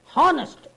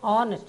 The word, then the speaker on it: honest: Velan is ஆன் ஆனஸ்ட் மேன், பாருங்கள் HONEST ரொம்ப பேர் என்ன சொல்லுவாங்க, ஹெச் வந்தனால ஹானஸ்ட் அப்படின்னு சொல்லுவாங்க, ரொம்ப தப்புங்க, உச்சரிப்பு கெட்டு போயிடும். அதனால் நீங்கள் என்ன சொல்லணும், ஆனஸ்ட், அந்த ஹெச் சைலண்ட் ஆகையினால Velan is ஆன் ஆனஸ்ட் மேன்.